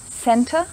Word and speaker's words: center: example tank's art center the word center has two e's but the pronunciation of them is different the first e is pronounced e center and the last e